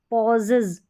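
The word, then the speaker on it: pauses: अब यहाँ पर एस है, पॉजेज, पॉजेज, यानी एस को ज प्रोनाउंस करें, पॉजेज, इज आ रहा है ई एस का साउंड।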